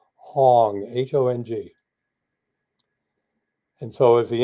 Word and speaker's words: Hong: create the vibration of the sound of the syllable Hong, H-O-N-G.